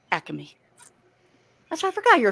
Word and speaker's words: Acme: Dave you're right it is Acme it is pronounced Acme that's why I forgot you're a Philly boy